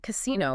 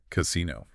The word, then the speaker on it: casino: In modern Italian, if you pronounce casino without the accent, just the flat unacented word casino, right, it actually carries a very negative connotation.